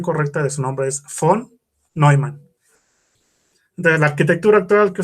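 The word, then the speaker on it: von Neumann: humanas así común muy raro no tras la pronunciación correcta de su nombre es font no hay man de la arquitectura natural que son las computadoras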